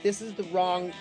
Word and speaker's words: Rawn: in baby solo album but the wrong side of town we've just released an album and it's self-titled to the wrong side of town and that's spelled r-a-w-n side of town she like oh